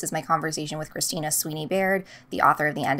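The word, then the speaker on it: Sweeney-Baird: my conversation with Christina Sweeney Baird, the author of The End of Men. I believe I mispronounced her last name in the last episode and called her Christina Sweeney McBaird.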